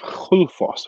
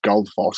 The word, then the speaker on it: Gullfoss: standing in front of Gullfoss, which a lot of people will pronounce Gullfoss because that's the way it's spelt.